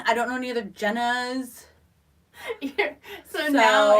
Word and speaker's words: Jenna: why it is not my name is is Jenna j n n a like Jenna Jameson Jenna Elfman I don't know any other Jenna so now it's going